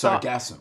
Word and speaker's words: Sargassum: Like Sarge ass No, it's Sargassum. No, actually, it's pronounced Sargassum, and he will tell you why.